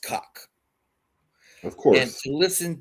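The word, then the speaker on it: Kok: There was a speed skater with her last name was spelled K-O-K and pronounced cock.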